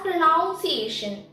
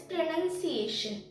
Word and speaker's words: pronunciation: in british accent now most of the people say this as pronunciation but that's wrong the actual word is pronunciation now we move on